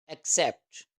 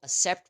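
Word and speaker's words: accept: Next word है एक्सेप्ट, means कबूल करना। बहुत सारे लोग इसको एक्सेप्ट पढ़ते हैं। सो एक्सेप्ट is wrong pronunciation. The correct pronunciation of this word is that एक्सेप्ट, एक्सेप्ट।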